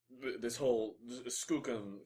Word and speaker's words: Skookum: And I'm trying to make some more sense of this whole Skookum thing. Is apparently the right pronunciation.